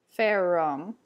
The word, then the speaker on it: ferrum: For gessi, you'd want to say gessi. Ferrum. Melissa. So those double consonants get a little bit longer than they would in English.